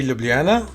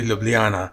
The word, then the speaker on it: Ljubljana: L, so I kind of get like it would be Ljubljana. So people sometimes say Ljubljana. If they're in high, they might say Ljubljana as well, which is, I don't know